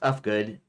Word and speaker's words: Ufgood: My name is pronounced Ufgood. Uff rhymes with puff.